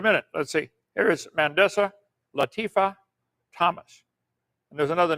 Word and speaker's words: Mandisa: Can't even pronounce the name right. Mandisa.